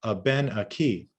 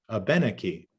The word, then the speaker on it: Abenaki: There's a different melody to the language or intonation, and it's a 3-2-1 intonation where the stress is on the third from the end and the final syllable. So we hear Abenaki, Abenaki, Abenaki.